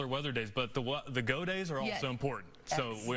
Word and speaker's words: Gaudet: And go day. When you told me that yesterday is the way to pronounce his name, I said.